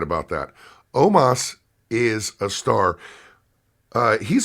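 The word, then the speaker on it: Omos: I noticed was Omas still don't know why his name's pronounced Omas even though it's o-m-o-s but Omas is a star I'm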